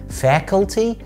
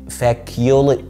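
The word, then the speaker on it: faculty: قبل ما نبتدي في اسماء الكليات خليني اقول لك ان الكليه في الانجليش اسمها فاكولتي، فاكولتي مش فاكيولي، اوعى تقول فاكيو ما تشتمنيش، فاكولتي فاكولتي.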